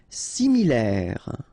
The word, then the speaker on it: similaire: Similaire. So final E not pronounced. Okay, similaire.